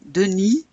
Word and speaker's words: Denis: Denis, do you pronounce that S? No, no, no. Denis fait du ski.